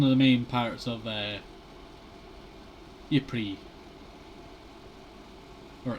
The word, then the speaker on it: Ypres: city in Flanders, Belgium, that being one of Ypres. I'm pretty sure it's called the Cloth Church, or the Cloth Cathedral, not sure. But it's one of the main parts of Ypres, or Ypres, as you know, it's normally supposed to be pronounced.